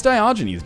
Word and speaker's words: Diogenes: It's Diogenes. Don't make fun of me. That's the way it's pronounced.